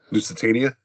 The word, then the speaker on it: Lusitania: How do you say that one? Lusitania? That's the one.